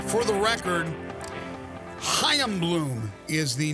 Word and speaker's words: Chaim: But again, calling the shots now is Chaim Bloom. There you go. That's the official pronunciation.